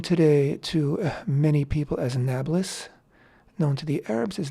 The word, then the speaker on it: Nablus: I'm forgetting now exactly, but Annapolis, polis in Greek meant city, and so the Arabs who cannot pronounce a P but pronounce it B shortened it to Nablus.